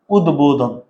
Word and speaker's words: উদ্বোধন: উদ্বোধন। ভাইয়া উদ্বোধন, এই যে ভাইয়া দয়ের সাথে ব আছে না? তাইলে ব ফলার উচ্চারণ হয়েছে।